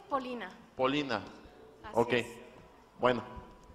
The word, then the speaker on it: Polina: Muy buenos días, ciudadana Nava Polilla María del Carmen. ¿Está bien pronunciado Polilla? No, de hecho es Polina.